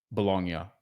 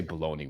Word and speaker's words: Bologna: Once in person in Bologna, Bolognia, uh, Italy. I always have trouble pronouncing that. Uh, because we say Bologna, which is stupid.